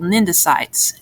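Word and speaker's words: cnidocytes: tentacles are lined with stinging cells called mendocites again the sea is still silent uh venom is contained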